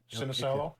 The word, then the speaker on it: Sinisalo: How do you say that name? Ilka Ilka. Sinisalo.